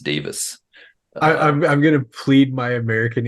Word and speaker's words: Davies: Because I was watching a YouTuber from England and she corrected herself for saying Davies and was like, oh, I said Davies, I meant Davis.